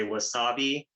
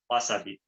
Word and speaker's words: wasabi: So, Americans will try to do this weird stressing of syllables, like they'll say wasabi, but in Japanese, it's just wasabi. There's no real syllable that gets a stress.